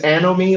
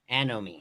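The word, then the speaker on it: anomie: you're saying it right it's it's anomy like like like enemy but with an with a at the beginning of it so it's anom yeah yeah anomy um but it's it's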